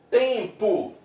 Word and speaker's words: tempo: Tempo. Lembrando que a letra M ali ficou sem pronúncia.